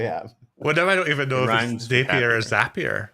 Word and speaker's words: Zapier: whatever even though i'm sappier like say again it rhymes with happier happier that's how you remember yeah happier happier happier